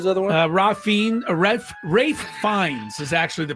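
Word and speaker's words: Ralph Fiennes: salaman who was the other one ra ra rith fines is actually the pronunciation spelled Ralph fine but it's R um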